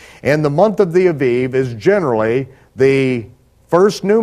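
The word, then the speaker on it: אביב: In Hebrew, it would be pronounced Aviv.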